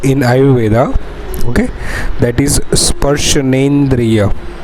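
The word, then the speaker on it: स्पर्शनेन्द्रिय: Okay, that is sparshanendriya. It's very necessary to pronounce a perfect word in Ayurveda. Sparshana plus indriya, that is sparshanendriya.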